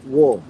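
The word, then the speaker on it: 워: Kemudian vokal U dengan O dibacanya adalah Ini Wo.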